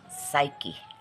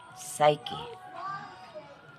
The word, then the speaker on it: psyche: it's difficult especially to the students to Pro pronounce it so let's start the word is psyche psyche p s y c h e psyche the